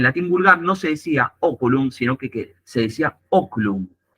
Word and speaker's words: oculum: te están diciendo es se dice oculum no se dice ocum están aclarando Cuál es